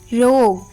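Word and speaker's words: rogue: एन G building R ओ जी यू ई रोग टी ओ एन जी यू ई टंग ए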